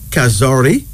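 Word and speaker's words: kazuri: kazori is spelled Ka z u r i pronounce kazori this word means small and beautiful in kiswahili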